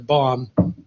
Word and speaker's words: bomb: And in English, for instance, the last B in the letter bomb is silent, so you've got to learn to ignore that case.